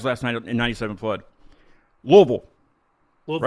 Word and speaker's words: Louisville: Louisville. Is that how you guys say it? Louisville.